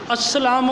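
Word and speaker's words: السلام: फिर पीछे आ जाएंगे अस्सलाम ओ अलेकुम लिखेंगे यहां पर एक बात आपको वजह करना जरूरी है कि अ लिप्स के बाद अलार्म है लाम यहां पर साइलेंट है वह अरबी में जब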